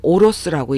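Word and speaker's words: 下ろす: 내용은 대사로 하나하나씩 여러분께 설명을 드리고 21번째에서 여러분과 같이 공부할 단어 오로스, 아래아자가 들어간 단어인데 이것을 오로스라고 읽어요.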